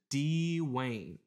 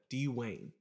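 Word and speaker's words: D-Wayne: Pardon, Your Honor, but I think that's pronounced Dwayne. No, it's got a little dash thingy, and it says in parentheses to say D. Wayne. Emphasis on the D.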